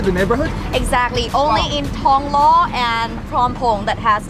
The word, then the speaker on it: ทองหล่อ: wait it's actually pronounced Tong Law Without th just only T Tong law better yes